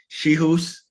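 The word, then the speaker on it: Czichos: It's Rafael Schihus, is the pronunciation of it.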